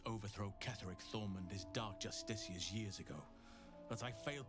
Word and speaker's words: Justiciar: Justiciar is fun to say. It's particularly fun to say once I learned how to say it correctly and I stopped calling it Justicar.